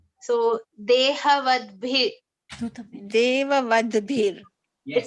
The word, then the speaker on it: dehavadbhir: B as in Bha as in Bhagavad Gita. Bha. So Dehavadbhir.